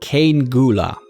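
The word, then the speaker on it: Cean Gŵla: This is apparently pronounced Cane Gula.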